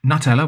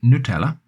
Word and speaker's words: Nutella: So Nutella, which I believe in other parts of Europe is called Nutella, is called Nutella here. And again, the brand has run with Nutella because that's the natural pronunciation in the UK.